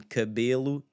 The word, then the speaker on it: cabelo: Now the unstressed E in cabelo, cabelo.